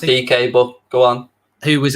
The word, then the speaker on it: Dike: Or here's an outsider for you, Daryl Dike from Orlando City. It's pronounced DK, but go on.